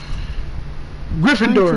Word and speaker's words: Gryffindor: Grenardov. How you say it? How you say it? Janindov? How you say it again? Gryffindor.